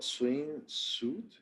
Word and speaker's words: swimsuit: I, is it called swimsuit? Suit? A swimsuit. Swimsuit. I You don't can know how say to that. pronounce it. Well, it sounds like you're not really saying the M.